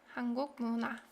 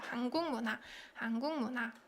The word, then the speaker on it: 한국 문화: 한국 문화. Because of the consonant assimilation between 기역 받침 and 미음, right? And so 한국 문화.